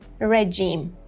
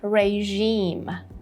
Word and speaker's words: regime: Number 6, we don't say regime. We would say regime, regime. So a long E here and even stronger, in a stronger sound. Regime, regime. The word stress is on the second syllable.